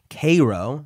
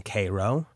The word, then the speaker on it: Cairo: listing of rations issued in Cairo, I was mispronouncing that before apparently, but a listener corrected me. The listing of rations issued in Cairo, where the prisoners were held, accounts for 14,623 Confederates.